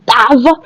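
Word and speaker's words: ת: Dans la lettre tave, lorsque je prononce, on entend phonétiquement deux sons.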